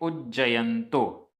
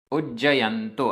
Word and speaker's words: उज्जयंतो: प्रचलित है गिरनार इसको प्राकृत में कहते हैं उज्जयंतो उज्जयंतो आधा ज पूरा ज और नहीं तो गिरनार